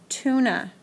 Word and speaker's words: tuna: We also have the other words like tuna, T-U-N-A, and that sounds like the double O when you say it, but it's spelled with the U.